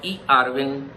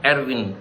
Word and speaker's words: eRwin: We use Microsoft Visio or eRwin. It's not Erwin. People pronounce it Erwin, which is wrong. So it's eRwin, entity relationship for Windows, are tools used to draw ERD diagram.